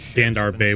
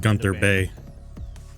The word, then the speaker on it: Gunther Bay: I've always hated how he calls it Gandar Bay when it's pronounced Gunther Bay.